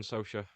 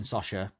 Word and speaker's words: Socha: Lauren Socha. It's Lauren Sosha.